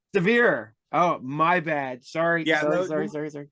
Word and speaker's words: Sevier: yes I did so said your name sever it's severe oh my bad sorry